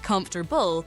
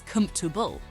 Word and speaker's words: comfortable: Often people say comfortable, but the correct pronunciation is comfortable.